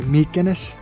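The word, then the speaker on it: Μυκήνες: ancient town of mycenae i think that's how it's pronounced in english in greek it should be meekness sadly it's closed we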